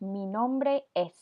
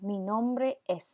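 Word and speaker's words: mi nombre es: hombre s repeat that mean hombre s this train that this phrase actually translates to my name is and then in English the word me is the closest pronunciation to this meet right here so mean hombre is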